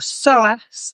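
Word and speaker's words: psoas: Um often the SOASS which is spelled P S O A S uh often the SOAS is known as the store of all stress in soatic terms.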